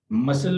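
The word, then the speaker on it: muscle: मसल में यानी सी की यहाँ पे आवाज नहीं आती।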